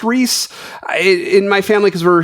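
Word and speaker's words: Rhys: different Reese which I I'm pretty sure it's pronounced Reese in my family because we're huge Indiana Jones fans I've always heard rice Davies but I'm pretty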